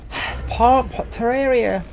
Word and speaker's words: Terraria: Terraria, that's how you pronounce it, by the way.